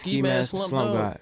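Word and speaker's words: Ski Mask the Slump God: Did I say It is Ski Mask Slump God. Yeah. Slump God. I said Slump Dog.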